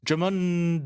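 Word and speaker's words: Djimon: the main villain J Jamon is it Jamon Jamon huno right someone said it was jond the D is silent like Jango all right there we go cuz he's got powers jamun does have powers they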